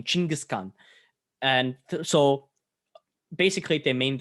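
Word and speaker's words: Chinggis Khan: khan just means emperor so kangaskhan is kind of the english way of saying chingiskan and so basically they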